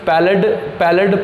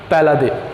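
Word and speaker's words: Palade: ठीक है, अब ये जो नाम है इसको स्टूडेंट्स पैलेड पढ़ते हैं, लेकिन इसकी जो सही प्रोनाउंसिएशन है वो है पैलादे।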